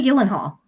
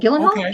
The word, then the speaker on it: Gyllenhaal: Maggie Gyllenhaal. Oh, Gilenhal.